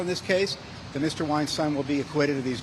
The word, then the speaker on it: Weinstein: Weinstein will be acquitted of these charges. Did he say Weinstein? Like rhymes with Frankenstein?